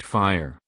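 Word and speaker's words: FHIR: does fur stand for fur is the latest standard to be developed under the hl7 organization pronounced fire first stands for fast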